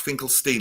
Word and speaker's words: Finkelstein: It's pronounced Finkelstein, like Bruce Springsteen, yes? Yes, but honestly, I don't mind too much. My husband is American Jewish, and they do the whole Steen thing out there.